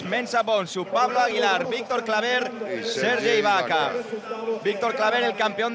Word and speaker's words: Claver: pronunciación de su apellido lo he corregido con la r final que se note la r Ah claro claver tú